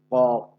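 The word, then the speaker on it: قاف: আর কফ, এটা আবার মোটা আওয়াজে জিহ্বার গোড়া থেকে উচ্চারণ করতে হবে।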